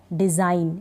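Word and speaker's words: design: जैसे कि क्या है डिजाइन क्या पढ़ेंगे इसको डिजाइन यानी जी इसमें नहीं पढ़ा जा रहा डिजाइन जी इसमें साइलेंट है ठीक है एन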